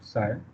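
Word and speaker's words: ψ: this side this is what actually how we pronounce it psi this term so psi is a function of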